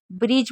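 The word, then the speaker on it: bridge: ब्रिज में भी D silent है।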